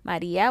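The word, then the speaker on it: María: falls on it okay so we have Maria we have real again same thing the accent is on the eye the stress of the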